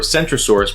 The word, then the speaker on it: Centrosaurus: with the ceratopsian dinosaur centrosaurus pronounced with a soft seat this is because in